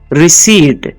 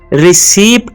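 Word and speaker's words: receipt: engineer क्या है engineer next word है रिसी इस वर्ड में पी साइलेंट होता है जो हमें उर्दू में इसको रसीद कहते हैं जो हमें दी जाती है उसको हम रिसीप्ट नहीं रिसी कहते हैं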